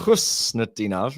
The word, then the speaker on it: Khusnutdinov: Khusnutdinov. That's how you say it.